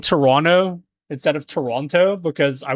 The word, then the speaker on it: Toronto: I started saying Toronto instead of Toronto because I was told by a Canadian person one time. They're like, uh, Canadian people don't pronounce the T.